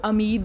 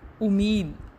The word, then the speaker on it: امید: امید۔ ہم اس کو امید نہیں پڑھ سکتے، امید الف پر پیش ہوتی ہے۔ مشقت، میم پر پیش